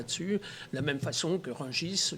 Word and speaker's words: Rungis: la même façon que rungis normalement ne devrait pas prononcer le s à la fin de me dire j